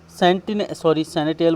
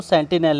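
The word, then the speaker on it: sentinel: सैनिटियल का मतलब होता है क्या, सैनिटियल बोल दिया मैंने, इसको सेंटिनल है इसका प्रोनाउंसिएशन।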